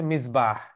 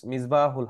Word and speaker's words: মিজবাহ: বহুবচন এটার একবচন হচ্ছে মিজবাহ মিজবাহ মিজবাহুল হক অনেকের নাম থাকে মিজবা মিজবাহুল হক মিজবা মিজবাহ যেটাকে আমরা বাংলায় অনেক সময় মেজবা বলে ডাকা হয় অনেককে মেজবা বাট একচুয়াল উচ্চারণটা হচ্ছে মিজবাহ যেমন সূরা নূরে আছে